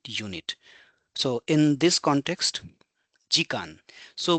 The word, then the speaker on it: 時間: so in this context Gan so we are combining G and K together and making Gan which means number of